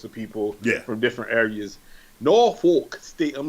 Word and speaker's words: Norfolk: Just say Norfolk, man.